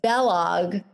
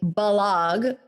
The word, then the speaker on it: Balog: my last name correctly it's supposed to rhyme with kellogg so it's bellog but it's b-a-l it's hungarian so sometimes i'll say balog so people get it but it's real it's bellog rhymes with kellogg well there you go